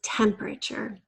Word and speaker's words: temperature: a little tricky because we kind of squeeze together the four syllables into three. So really use that trick of pulling the word out and remembering that chur sound at the end. Number 17 is discover.